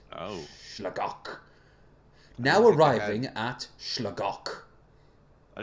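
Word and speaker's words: Sligeach: In Irish, it's Slagok. That's how you say it. Oh. Slagok.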